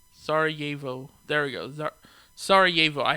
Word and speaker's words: Sarajevo: I can't pronounce that for shit, Let me see. Sarajevo. Sarajevo.